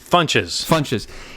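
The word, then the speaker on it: Ron Funches: Funches.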